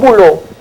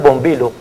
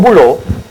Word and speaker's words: Bülow: Buló, que el pueblo, los funcionarios no le decían Buló, le decían Bombilo, ¿verdad? Don Bombilo, porque no podían pronunciar, como ahora que yo no puedo pronunciar el alemán, entonces yo le decía Bombilo, no se complicaban, entonces no le decían Buló sino Bombilo.